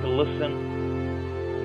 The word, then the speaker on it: listen: Letter T is silent in S-T-E-N, S-T-E-N. Like listen, moisten, but we here say moisten.